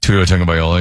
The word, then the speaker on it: Tua Tagovailoa: There's another franchise quarterback, Tua Tagovailoa. Is that how you say it? Tua Tagovailoa, yeah.